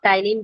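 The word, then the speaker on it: ptyalin: के बारे में पढ़ेंगे, यहाँ पे आपका साइलेंट है तो इसे हम लोग टाइलिन बोलते हैं, ठीक है, तो यहाँ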